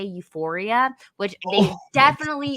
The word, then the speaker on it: Euphoria: But the funny thing is like they call it like Sephoria. So they're like, my favorite TV show is like Sephoria. And I was oh, like, Euphoria?